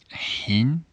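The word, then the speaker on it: ħin: at the same time hin don't forget to pronounce the her strong because for example when you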